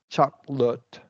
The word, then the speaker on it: chocolate: Chocolate. This one is like you do schwa as well, right?